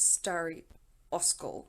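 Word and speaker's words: Старый Оскол: And it is Stary Oskol or something to that effect. It's not Stary.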